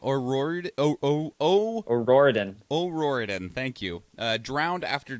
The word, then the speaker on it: O'Riordan: Cranberry singer, oh God, I can't pronounce her name. O'Riordan.